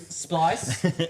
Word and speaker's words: Splice: for which disc Mania NS speeed rhymes with the word entice Frosty Frosty that is of course the SP splice and then Dan once